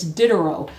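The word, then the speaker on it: Diderot: 18th century go to dinner Rose encyclopedia it's spelled d-i-d-e-r-t no d-i-d-e-r-o-t the t is silent it's dinner and he had an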